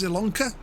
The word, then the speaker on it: Zielonka: This one is, I think it's Zielonka. That's how you pronounce it.